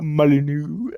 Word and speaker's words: Molyneux: So, uh, William Molyneux, right? That's how you say his name, Molyneux, born 1776.